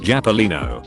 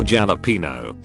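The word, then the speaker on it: jalapeño: Jalapeno is not Japolino or jalapeno. Jalapeno.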